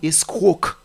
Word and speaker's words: escroc: le mot l'orthographe étant e s C r o C vous n'allez pas dire escroc non c'est escroc la lettre C est muette il y a également